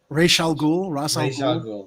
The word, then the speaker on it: Ra's al Ghul: How do you pronounce it? Is it Raish? Ra's al Ghul.